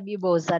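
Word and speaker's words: Mimoza: Guarda, la pronuncia Mimosa normale, ma essendo albanese, la Z è quindi uguale alla S.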